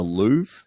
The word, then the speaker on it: Louvre: guys jump in but is it the Louvre is that how you say it in Paris okay yes correct sounds fancy so um